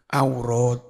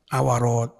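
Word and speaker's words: عورات: tapi kalau kayak begini ajwaf apa aurat bukan awarat ya gitu ya waabuhu babnya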